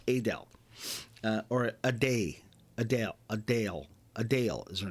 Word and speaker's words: Adele: not Adele it's Adele or a day Adele a Dale a Dale is her name so you got